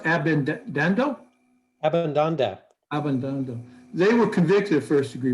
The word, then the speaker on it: Abbandando: I have here Maione and How is it pronounced? Abbandando? Abbandando.